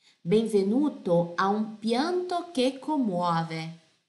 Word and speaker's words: commuove: Benvenuto a un pianto che commuove. Lembra di pronunciare cada lettera, certo? Commuove, commuove.